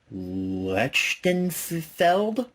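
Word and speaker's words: Lichtenfeld: We have a text commentary by film historian Eric Lechtenfeld. That's how you pronounce that.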